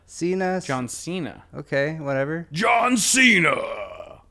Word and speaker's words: Cena: Senna? How do you pronounce his Do name? you pronounce it Senna? I don't know. How do you pronounce his I've name? heard it pronounced Cena. Cena. John Cena.